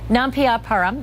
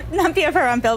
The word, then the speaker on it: Nampiaparampil: Nampiaparam, did I say it right? Nampiaparam? Nampiaparampil, but close enough. Nampiaparampil, I missed one, I'm sorry.